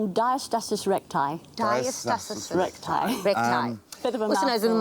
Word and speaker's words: Diastasis Recti: Did I pronounce it right? Yeah, it's Diastasis Recti. Diastasis Recti.